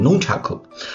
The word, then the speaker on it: Nunchaku: of Flux It's called Nunchaku You know the word when it sounds It should be a pronunciation of Japanese Translated It's called nunchuck